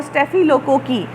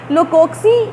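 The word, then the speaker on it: Staphylococci: स्टेफिलोकोकस इसका वाहिद है और स्टेफिलोकोकी, लोकोक्सी, कई जगह इसको लोकोक्सी भी बोलते हैं, लेकिन इसका जनरली जो इसकी प्रोनाउंसिएशन है वो स्टेफिलोकोकी है, लोकोकी।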